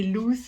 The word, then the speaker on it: Luz: dirais lui même a bien vu que ça se disait luz et que c'était vraiment portugais c'est un souvenir en